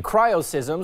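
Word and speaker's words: cryoseism: causes are Christ's so miss Brandon how you pronounce that thank you cryo sysm Zoar ice quakes when temperatures drop to 20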